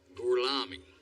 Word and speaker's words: Gorlami: Lo pronuncio correttamente? Sì, corretto. Gorlomi? Per cortesia, me lo ripeti ancora. Gorlami.